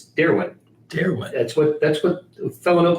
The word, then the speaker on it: Darwin: And I've also, by talking to somebody in Oklahoma yesterday, says we've been mispronouncing Darwin Thompson's name incorrectly the whole time. So what's your not Darwin, it's Darwin.